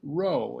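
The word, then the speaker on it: Rohe: And in the meantime, next Friday, for a good friend of Moira's who is just with her, her name is Jean Rowe. It's spelled R-O-H-E, and that's another just marvelous young talent that I can't say enough about.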